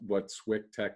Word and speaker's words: SwickTek: that works and what SWICKTEK is, and then we'll jump in. Sure. Traditionally, SWICKTEK. So I say Swick Technologies and then shorten it back up to SWICKTEK, and I spell it out SWICK.